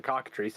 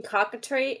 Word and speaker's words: cockatrice: I will find a picture of a cockatrice and a basilisk. I think if I were to try to type in cockatree and just phonetically, my algorithm would be completely fucked.